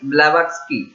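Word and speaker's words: Blavatsky: इस सोसाइटी को शुरू करने वाले दो लेडी हैं, एक है एनी बेसेंट और एक है HP ब्लैवत्स्की। यहाँ पे टी साइलेंट है, HP ब्लैवत्स्की।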